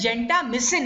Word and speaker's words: gentamicin: as you see gentamicin the pronunciation is same but it is gender missing if you want to pronounce it very clearly says so missing and they